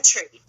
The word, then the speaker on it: Langtry: Is it Langtry? Am I saying it right? Langtry. Langtry? Yep.